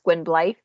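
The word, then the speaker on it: Gwynbleidd: geralt's whatever yeah so for him it's gwen blythe because it's double d so for me it's just now it's life well it is welsh yeah yeah the elder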